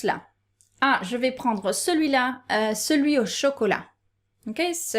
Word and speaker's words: celui: And note that it's very common for us to pronounce celui, suis. Okay, I don't know why. We take off the I and the L, suis. So, celui-là. Je vais prendre celui-là. It doesn't work with celle-là or cela or celle-là, the plural version, but it does work with celui.